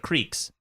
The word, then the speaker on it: creek: I grew up calling it cricks instead of creeks. Cricks was how I pronounce it.